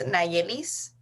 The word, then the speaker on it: Nayelis: your name and how to spell it like phonetically or like word bite letter sorry don't worry um so my name is nailis um yeah you can call me if